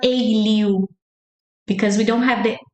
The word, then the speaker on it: alho: How do you make the LH sound? It's like a, li, u, like u, a, li, u. And it's like you're speaking li fast.